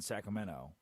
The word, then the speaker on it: Sacramento: I was at a banana ball game in Sacramento. Come to find out, you cannot say Sacramento. Don't say the T. Do not pronounce the T.